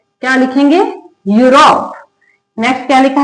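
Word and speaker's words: Europe: क्या लिखा है, किसी वर्ड के अंदर ई यू लिखा हो तो उसका उच्चारण ई से नहीं होगा, उसका उच्चारण किससे होगा, यू से होगा।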